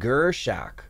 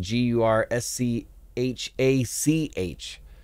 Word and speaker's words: Gurschach: Checking out experimental metal band Gurschach.